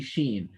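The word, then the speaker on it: ش: and any of the any movements of the lips that happen while pronouncing sheen they're incidental they just happen because you are raising your tongue and letting air out they should not be done on purpose if you are making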